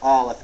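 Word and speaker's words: א: the Hebrew alphabet is Olive and it's actually silent it's a silent letter and we'll talk about the impact that has on pronunciation later but for now you just need to memorize that the letter Olive is silent it's written with three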